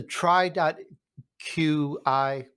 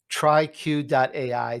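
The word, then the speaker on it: TriQ.ai: of is is the tri dot q i and i probably said that wrong tri-q dot ai there i said it right is it a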